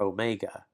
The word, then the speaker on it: omega: And then you have the word or the letter omega. Omega. O as in note. So you have obey, note.